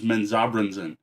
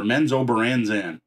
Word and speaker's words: Menzoberranzan: The only one I know how to pronounce is Menzoberranzan or Menzoberranzan, if you prefer pronouncing it drow or drow.